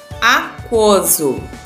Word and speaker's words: aquoso: Por exemplo, quiabo. Ouviu o som do U? Não. Quatro. Eu ouvi. Aquoso. Aquoso. Ouviu o som do U? Ouvi. Nessas palavras, a letra U é pronunciada? Sim, né? Por quê? Porque a gente ouve o som da letra U.